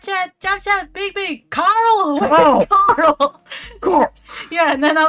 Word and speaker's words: Carl: Because in America, it's like, you pronounce the R, right? So it's Carl. Yeah. So you can clearly distinguish between the R and the L sound. But because in Australia, we don't say the R sound, it's just Carl. Carl. Carl.